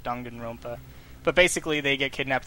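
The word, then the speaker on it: Danganronpa: It's dongan, like dongan rompa.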